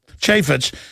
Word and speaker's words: Chaffetz: the impeachment option representative jason Chaffetz is how they pronounce it Chaffetz a Utah Republican says